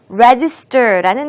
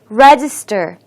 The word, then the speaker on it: register: 자, 우리 오늘 처음으로 함께할 단어는요, register라는 단어입니다. 발음 연습부터 같이 시작해 볼게요. register, register, register. 첫 음절에 강세를 두고 읽어주세요.